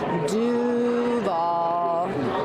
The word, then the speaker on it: Duval: And so you got to make sure you have a draw out that do and then nail the v at the end and you'll fit right in.